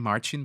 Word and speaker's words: Marcin: hello uh listeners uh surprisingly you pronounced my name correctly uh it's a typical polish name with the end ski